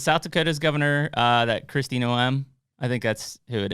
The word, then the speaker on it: Noem: Kristi Noem. Kristi Noem. Yeah. No. With no M? Noem. The M is silent.